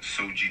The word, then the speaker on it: Soji: You pronounce it Soji.